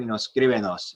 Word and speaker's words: escríbenos: Whatever stressed syllable is in the root verb, that's where it will stay. When you add syllables, you have to put an accent mark though on the letter where that syllable, where the stressed syllable originated.